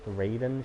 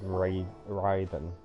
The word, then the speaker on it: Raiden: a raid ryden shogun but normally it would be pronounced raiden shogun at least from my experience no one ever said ryden children come come you've